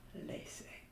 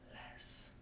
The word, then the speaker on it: laissez: Say, I know you would think that this would be pronounced laissez, but it's pronounced less, like not more, but less.